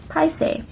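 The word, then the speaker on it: paiseh: So the way you pronounce it is literally like the dessert pie and saying something, so like say, and then you put them together and it's paise.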